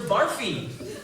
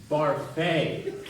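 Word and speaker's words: Barfée: Mr. Barfy. It's Barfay.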